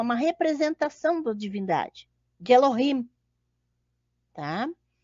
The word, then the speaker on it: Elohim: aqui em cima está Como se pronuncia tá Elohim Elohim tá que é a